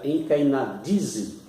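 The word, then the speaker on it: ἐγκαινίζω: A palavra consagrou aqui, no grego, é uma palavra que se pronuncia enkainadizo, e essa palavra, ela significa inaugurou.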